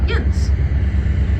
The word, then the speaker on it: yinz: We take those two separate words and we squish them together. We throw some fries on it and we pronounce it yins.